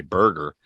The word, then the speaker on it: Berger: Is it Berger or Berger? I heard the announcer say Berger. Do they pronounce it wrong? Yeah, it's Berger.